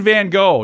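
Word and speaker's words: Van Gogh: is not helpful Vincent Van go North Americans pronounce it van go while Brits tend to say van goof go turning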